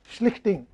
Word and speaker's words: Schlichting: Schlichting, that is German words are very difficult to pronounce. You have to say Schlich ting.